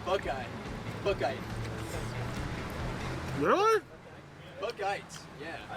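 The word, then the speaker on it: Buchheit: Yeah, I used to call it Bouchette, but I guess it's called Buckeye.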